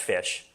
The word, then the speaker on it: ghoti: basically the meme is, how do you pronounce GHOTI? Okay. It's pronounced fish. Now, why is it pronounced fish? Because you take the GH from enough, you take the O from women, and you take the TI from nation, and you get fish.